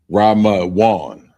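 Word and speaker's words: רימון: And the first word is pomegranate, and it's pronounced Ramawan.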